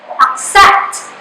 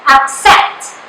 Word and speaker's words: accept: So example, we have here accept. The syllable ac is the unaccented syllable and the syllable set is the stressed syllable.